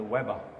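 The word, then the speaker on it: Łeba: Det här allra enklaste av dem alla, det heter inte alls så, utan det heter Webba.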